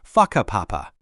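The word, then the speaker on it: whakapapa: You'll hear locals occasionally talking about places like Waka Papa, pronounced Faka Papa.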